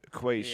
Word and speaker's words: quiche: Bro, Like saying, what do you say for quiche? You say like quickie or something. quiche.